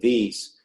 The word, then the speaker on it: Wyss: He's a professor of medical engineering and science at the Broad Institute of MIT and Harvard, and the Wyss Institute, which is spelled W-Y-S-S.